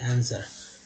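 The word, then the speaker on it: answer: Question booklet and आंसर, ER को बोलते हैं तो आंसर, ठीक है, आंसर, W साइलेंट है यहाँ पर, आंसर।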